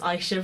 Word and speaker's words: Aysha: actually spelled Aysha, and also it's pronounced Aysha, by the way. Aysha, not Aysha, Aysha.